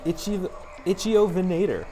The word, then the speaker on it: Ichthyovenator: This first brand new one, I believe is pronounced an Ichthyovenator.